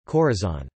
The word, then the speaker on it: corazón: penult, joven, virgin, metine, the great majority of nouns and adjectives ending with n are stressed on their last syllable, capitan, almacen, jardín, corazón.